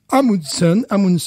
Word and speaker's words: Amundsen: La brasserie s'appelle, attention, j'ai un petit accent des quartiers sud d'Oslo, je me permets de m'excuser, voilà. Amundsen, ça s'écrit Amundsen.